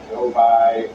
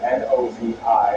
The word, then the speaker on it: Novi: Now on that left side of your screen there, we see Novi, Michigan. It is spelled N-O-V-I. I thought it was Novi, but it's Novi. So 2 stops there in the great state of Michigan.